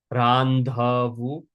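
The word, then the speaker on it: રાંધવું: This capital dh in the middle is a dh sound. So we bite our tongue on that. Randhvu randu to cutv to speak.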